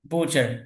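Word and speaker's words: butcher: আর এখানে বুচার, বুচার, টিটা উচ্চারণ হবে না এখানে, বুচার, বুচার কষায়।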